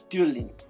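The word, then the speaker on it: Duibhlinn: In modern Irish, the name is Dublin, and the Irish rhymes from County Dublin, show that the Dublin in Leinster Irish was pronounced Dulin.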